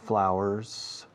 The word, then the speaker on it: flour: There's less flour, escrito flour, pero se pronuncia flower, como una hora, hour. Quitas la H de hour y pones FL delante, tienes flour.